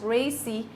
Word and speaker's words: RACI: A typical model used for this purpose is called RACI, pronounced RACI, which stands for responsibility.